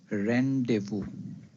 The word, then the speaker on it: rendezvous: The word is pronounced as rendevu.